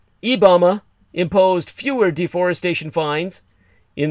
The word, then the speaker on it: IBAMA: the Portuguese acronym as IBAMA, not Obama, but spelled the same with an I in place of O, IBAMA imposed fewer deforestation fines